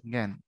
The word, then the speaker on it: জ্ঞান: এর মত উচ্চারিত হয় যেমন এটা গান বললে ভুল হয়ে যাবে জ্ঞান মনে থাকবে তার জ্ঞান